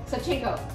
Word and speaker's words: Savchenko: Savchenko. There you go, you have to say it like you're about to sneeze.